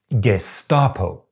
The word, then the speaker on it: Gestapo: I said “Geshtapo.” But a lot of native Germans told me that it should be “Gesstapo.”